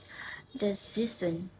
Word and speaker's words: decision: So, words ending in this. We stress in the second last syllable. I have some example. The first word is economic. Economic. The second word is decision.